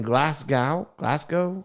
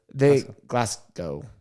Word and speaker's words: Glasgow: In Glasgow, how do you say it? Scotland. I don't know how you say that name of that city. Glasgow. Glasgow. Like Van Gogh's cousin, Glass.